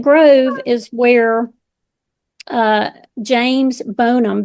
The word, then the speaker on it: Bonham: Um and Flat Grove is where uh James Bonham, B O N H A M, was born. Bonham? Yes. James Bonham from the Alamo? Yes. Here Here they pronounce it Bonham, but um so, James Butler